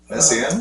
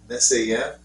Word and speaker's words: Messiaen: Messiaen was?